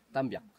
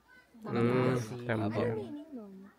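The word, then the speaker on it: Tambiac: Tambyak. Tambyak. Spell it. T-A-M-B-I-A-C. Tambyak.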